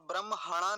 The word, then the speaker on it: ब्रह्मणा: अब ण और जुड़ा हुआ है, ण णकार और उसके पीछे आकार है, तो क्या बन जाएगा? ब्रह्मण। अब ब्रह्मणा नहीं कहेंगे, कभी ह को बाद में ले आए, इसलिए थोड़ा सावधानी रखनी होगी इस शब्द में।